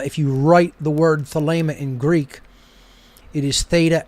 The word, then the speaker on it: Thelema: is spelled t-h-e-l-e-m-a and in greek the second e is a long a sound uh if you write the word thalema in greek it is